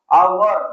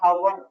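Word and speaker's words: hour: sound is Oval sound ಅವರ್ ನಾಟ್ ಹವರ್ ಅವರ್ ಅಂತನೆ ಆಗುತ್ತೆ ನಾಟ್ ಹವರ್ ನಾವೆಲ್ಲ ಏನ್ ಮಾಡ್ತೀವಿ ಹವರ್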